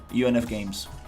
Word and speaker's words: UNF Games: uh really like these these guys right here, UFM games on Real Engine. Not fun. UFN. Um, did I UNF? Maybe. Yeah, there you go. UNF Games.